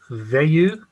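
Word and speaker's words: Veilleux: it's uh sorry it's it's a little french uh it's pronounced veyu and i've spelled v e i l l e u x thank you okay thank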